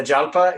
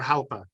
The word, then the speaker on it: Jalpa: halpa oh yeah the jalpa yeah well how do you say it is it jalpa or halpa I've heard Botha well halpa would be Spanish so in Italian it's